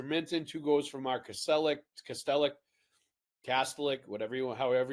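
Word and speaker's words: Kastelic: two goals from our Castellic, Castellic, Castillic, whatever you however you want to pronounce it. I think his father called himself Castellic, but but apparently um Marcus told us it's Castillic.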